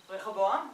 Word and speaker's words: Rehoboam: Rehoboam.